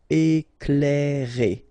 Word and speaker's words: Éclairer: Okay, C and L together, you will pronounce this cl. Éclairer.